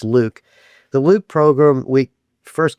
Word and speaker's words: LIWC: And the computer program is LIWC which is which we pronounce Luke. And I know it doesn't seem like it should be pronounced that way but it's my program. So it's Luke.